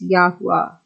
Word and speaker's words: Yahuah: consisted of 4 vowels, with the UAU having the U sound, which agrees with the Assyrian pronunciation Yahuah and is pronounced Yahuah.